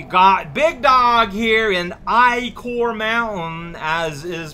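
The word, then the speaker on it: Ichor: return but we got big dog here and i core mountain as is pronounced in shovel knight it just sounds weird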